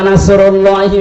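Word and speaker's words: نصر الله: এই যে ইজা জা নাসরুল্লাহি ওয়াল ফাত, এখানে সোয়াদ আছে, মুখ গোল করে উচ্চারণ করা লাগে। নাসর মানে সাহায্য, নাসর মানে কি? আর ইজা জা নাসরুল্লাহ সিন দিয়ে যদি কেউ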